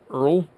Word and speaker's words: Urgle: The G is silent. Earl.